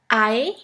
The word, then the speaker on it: Ei: The first one is RE and AE, which is pronounced like the English word for I.